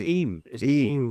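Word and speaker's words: Eyam: The one of the villages that sprung to mind there is now how's it pronounced? Is it Am or Eim? E Y A is em.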